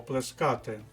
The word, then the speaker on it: плескати: номер шість плескати язиком Зверніть увагу на наголос слово плескати хоча в другій особі однини ти плещеш і в третій особі однини він плеще рівно як і в множині вони плещуть так от плескати язиком -